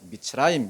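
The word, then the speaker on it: מצרים: 애굽을 가리킬 때 미츠라임 이렇게 부르는 거예요.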